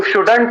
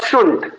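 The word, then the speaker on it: shouldn't: तो बहुत सारे बच्चे इसको शुडंट पढ़ते हैं, शुड नॉट पढ़ते हैं, लेकिन याद रखेंगे इसका सही जो उच्चारण होगा वो होगा शुंट।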